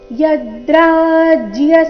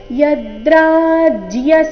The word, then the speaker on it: ಯದ್ರಾಜ್ಯ: ಉಚ್ಚಾರಣೆ ನಾಸಿಕವ ಕರ್ತೋ ವ್ಯವಸ್ಥಿತಾವಯಂ ಯದ್ರಾಜ್ಯ ಸುಖಲೋಭೇನ ಯದ್ರಾಜ್ಯ ಯದ್ರ ರಾಜ್ಯ ಯದ್ರಾಜ ಇಲ್ಲ ಇಲ್ಲಿ ಜ ಅಧಿಕ ಯ ಸಂಯುಕ್ತಾಕ್ಷರ ಯದ್ರಾಜ್ಯ ಸುಖ ಸುಖ ಸುಖ ಬೇಡ